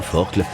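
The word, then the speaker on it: Forclaz: Quant au Axel Molar l'orna Bonel quand il se présente au col de la forcle se prononce bien forcle il est aisé de constater qu'elles accroissent encore leur avance avec une facilité apparente déconcertante.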